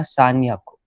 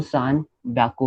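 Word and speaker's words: 三百: सो अगर आपने रूल से किया तो 300 कैसा हो जाएगा सान याकू. बट वैसे नहीं बोलते, उसमें वो सान ब्याकू हो जाता है.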